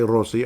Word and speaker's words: Rossi: You have to roll the R, then say Rossi.